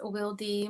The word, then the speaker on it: Wildy: Some people pronounce it as Wildy, but I am Dominican American, and my name is pronounced in Spanish.